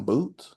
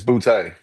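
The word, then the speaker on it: Boutte: Is it Kan Boot? It's Bouty.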